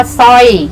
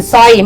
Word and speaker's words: สร้อย: เสียง 4 ระยะ นะ ก็ คือ สร้อย ไม่ ใช่ สร่อย เศร้า ไม่ ใช่ สาระ เล่า เนาะ จริง ไม่ ใช่ จะ ลิง นะ ลูก นะ อ่ะ